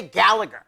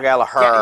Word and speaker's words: Gallagher: They don't say Gallagher. No. They pronounce it differently. Like Gallagher? Gallagher. Yeah, they don't give you the extra second G. Yep. It's silent. Yep.